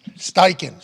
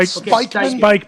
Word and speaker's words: Steichen: Steichen, bro. Not Spikeman. Spikeman is how Gronk introduced him.